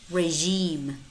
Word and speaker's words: regime: beige massage massage garage garage prestige prestige regime regime Mirage Mirage but it's mostly spelled s